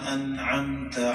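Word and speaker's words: أنعمت: সিরাত ইহদিনাস সিরাতাল মুস্তাকিম সিরাতাল মুস্তাকিম সিরাতাল্লাজিনা আনআমতা আলাইহিম সিরাতাল্লাজিনা আনআমতা আলাইহিম আনআমতা আনআমতা আনআমতা আনআমতা একটু ক্লিয়ার উচ্চারণ করতে হবে আন আমতা আলাইহিম আমরা সাধারণত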